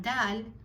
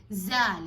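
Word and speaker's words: دال: And then you have dal, dal. Dal can, sometimes people make it too strong. They say zal. It's not zal, it's dal.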